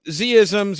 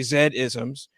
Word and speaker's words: Z-isms: um well you know z-isms or you know depending on where you are in the world you might say zed-isms uh so in terms